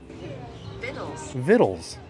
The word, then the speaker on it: victuals: But if I go to Google and I say how to pronounce victuals, and then I click on this, it says vittles. Vittles. So like it's fictional vittles.